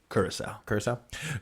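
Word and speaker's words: Curaçao: How do you pronounce that? Curacao. Curacao barrels, you'll get the bright citrus and rich chocolate without the foil wrapper and dramatic noise making.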